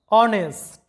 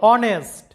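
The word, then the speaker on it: honest: বা প্রেতাত্মা এরপরে দেখো অনেস্ট লক্ষ্য করো অনেস্ট এখানে এইচ এর কোন উচ্চারণ নাই এইচ এর উচ্চারণটা সাইলেন্ট আছে অনেস্ট যেটার বাংলা অর্থটা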